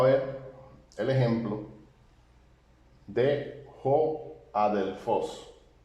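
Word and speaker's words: ἀδελφός: aquí tenemos a j adelfos tiene espíritu suave y por tanto eh No se pronuncia la aspiración Así que la Alfa suena eh Como un sonido de Alfa puro a adelfos bien y este es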